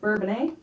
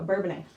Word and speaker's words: Bourbonnais: I would pronounce that Bourbonnais, but say it like that, people won't understand. Yeah, so Bourbonnais.